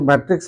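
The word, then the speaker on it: matrix: this mind there ज word used मैट्रिक्स एम ए टी आर आई x some people call it और pronounce ट एस मेट्रिक्स सो मैट्रिक्स इ also correct मैट्रिक्स ल्स कर okay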